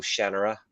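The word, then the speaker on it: Shannara: I used to love the sort of shanara books or shanara apparently as it's as it's supposed to be pronounced um and I love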